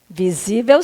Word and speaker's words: visível: é a última então não visível visível sim é uma paroxítona sílaba tônica aí do assento é a penúltima sílaba é uma paroxítona que termina em que em l então fica assim as